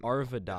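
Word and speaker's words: Arvydas: know, How do you some- pronounce his first name? Artuvis? Oh, I don't. Arvidas.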